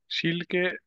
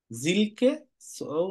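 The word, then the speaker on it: Silke: পড়াশোনা করে অনেক এটা সিলকে জোনাস সিলকে ইওনাসের উচ্চারণটা হয়কে ইওনা জিলকেও না জিলকে ইওনাস জিলকে ইওনাস তো এখানে টেক্সগুলা পড়লাম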